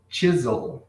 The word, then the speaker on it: chisel: Aqui nós temos o Wood Chisel. Cuidado com a pronúncia disso aqui, gente. Os brasileiros costumam chamar de XL. A pronúncia disso aqui é chisel.